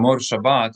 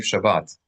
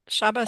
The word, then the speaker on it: Shabbat: Shomar Shabas is what I hear. That's right. It's the same root, but shrabas is a it would not be understood by a Hebrew speaker